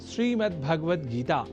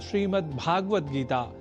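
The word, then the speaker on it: श्रीमद्भगवद्गीता: यह शब्द ही है जैसा कि मैंने उच्चारण किया, श्रीमद् भगवद गीता, जिसे अनवधानतावश हम श्रीमद् भगवद गीता या श्रीमद् भागवत गीता या भागवत गीता कर जाते हैं, जो सर्वथा अशुद्ध है।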